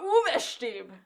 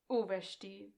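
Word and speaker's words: Uwe Stieb: The announcer says, it is Gregor Uvestib. I say his name like that. Uvestib. Uvestib. It's U... Okay, the way it spelled it on my captions was U-W-E, Uwe, S-T-E-E-B, and I just wrote Stieb.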